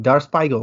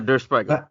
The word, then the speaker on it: Der Spiegel: it's like Dar হ্যাঁ হ্যাঁ I হ্যাঁ I cannot pronounce the name, Dar Spiegel, right? হ্যাঁ, Der Spiegel.